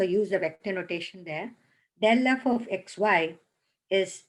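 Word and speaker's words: ∇f: Define the gradient vector del f, you pronounce it as del f, for a function f of 2 or 3 variables.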